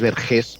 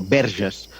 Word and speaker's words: Verges: El pueblo no es Vergés, sino Verges, que es vírgenes en